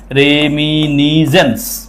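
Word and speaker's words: reminiscence: রেমিনিজেন্স, সিটা সাইলেন্ট, রেমিনিজেন্স।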